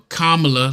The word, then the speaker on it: Kamala: though with Charlamagne charag was a Kamala a Kamala let's say it correctly give her respect for